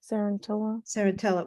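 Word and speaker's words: Cenerentola: Sarantella? Sarantella.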